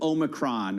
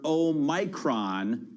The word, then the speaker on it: Omicron: Omicron or Omicron, but I know that the accent would have been on the second syllable, Anna, because the point of this 15th letter of the alphabet, it's O minor. It's the small o as opposed to omega. So it should be Omicron and not Omicron.